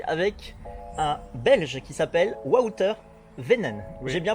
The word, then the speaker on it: Wouter Wynen: Je suis avec un Belge qui s'appelle Wouter Venen. Oui. J'ai bien prononcé?